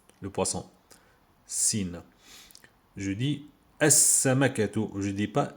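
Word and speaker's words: السمكة: Je dis as-samakatu. Je dis pas al-samakatu. Je dis as-samakatu ici.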